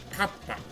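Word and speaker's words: かっぱ: So kappa is ka and pa with a small su, which is like a curvy line. But the small version of the su basically combines the first syllable and the second syllable. So instead of saying ka pa, you say kappa.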